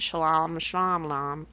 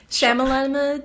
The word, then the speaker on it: Shyamalan: this huge twist very m night shalom ah that's shyamalan ding yeah that's his